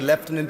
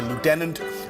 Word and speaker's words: lieutenant: Lieutenant Colonel Tuli gabard we say leftenant the Americans say Lieutenant a 21-year military veteran